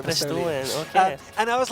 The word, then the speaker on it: Bristolian: Not Bristol, Bristolian. just south of Bristol. That's how it's pronounced here, Bristolian.